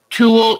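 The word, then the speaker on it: tulle: things and here is some white tool and it's t-u-l-l-e and it's one of those odd pronunciations but that will go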